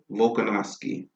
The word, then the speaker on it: Volkanovski: Like, so let's talk about how you pronounce his name? Alexander Volkanovski. Volkanovski.